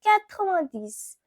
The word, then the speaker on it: quatre-vingt-dix: And for 90, it is pronounced as quatre-vingt-dix.